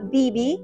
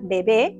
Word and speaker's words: Bibi: Así se pronuncia acá. Yo, cuando estaba en Perú, decía bebé, porque es una palabra en español. Claro, con la tilde al final, en la E, ¿verdad? Ya se me salió la profesora. Y, bueno, pero acá se le pronuncia Bibi.